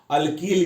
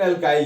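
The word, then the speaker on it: alkyl: इसको कितना लो, अल्कील भी बोलता है, लेकिन अल्काइल ज्यादा प्रोनाउंसिएशन हम लोग के जो है, जो नॉर्थ इंडियन है उनका प्रोनाउंसिएशन अल्काइल ही ज्यादा बेटर है इसके लिए।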